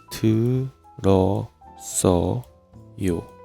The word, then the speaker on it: 들었어요: So, ieung is deleted and shang sangsiod takes over this place. So, teu reo sso yo.